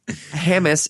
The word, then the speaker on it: James: Rivers fan out Matthew right yeah Felipe yes Hamus is a dip you idiot it's not your